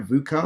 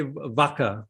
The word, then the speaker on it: VUCA: Am I saying it right, VUCA? You are well. Yeah. I mean, some people say VUCA and some people say VACA, but anyway, whichever way you say it, right?